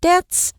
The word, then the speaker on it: debt: Pay something off 是清偿或者是还清债务。那债务欠款这个名词就是 debt，好，字尾的 b 不发音 debt。Pay off one's debts，还清某人的债务。那如果是某人欠下巨额的债务，我们可以说 somebody's deep in debt。那为了还清债务呢，他们夫妇就辞退了佣人，搬进了一间小公寓里头。